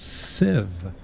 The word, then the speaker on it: sieve: All right, well, I'm going to teach you how to say sieve. I don't have my hammer anymore. This is horrible. It's sieve.